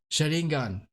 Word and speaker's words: Sharingan: Sharingan.